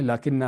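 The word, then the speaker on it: لٰكِنَّ: लेकिन असल में लाकिना है। अलिफ जो है वो लिखने में आता है। लेकिन साइलेंट है जिसको पढ़ा नहीं जाता।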